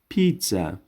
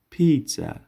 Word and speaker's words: pizza: پیتزا. پیتزا. پیتزا پیزا معنی میشه. و یاد داشته باشین که در وسط شما در تلفظ یک صدای تی را ایجاد میکنین.